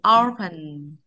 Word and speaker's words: open: Open bằng nhau không được đâu. Chọn dây một ạ. Open.